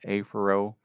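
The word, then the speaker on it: afferent: Afro, I'm going to just pronounce it with the long vowel, aphero, which means toward the center. Ephero or ephero refers to away from the center. Again, I'm just pronouncing the long vowels to make sure you understand the difference in the spelling.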